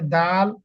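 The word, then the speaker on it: دال: ততটুক খতে আবার দেখেন পরে যে দাল এই জাল এই দুইটা অক্ষর কিন্তু আপনার জিমের মত জিমের কালারে জিমের কালারের সাথে মিল আছে তার মানে আপনি জিমে যতটুকু টান দিছেন লম্বা করেছেন ততটুকু জালেও আপনাকে টান দিতে হবে দালেও আপনাকে টান দিতে হবে সেম একই টান এই হচ্ছে তাহলে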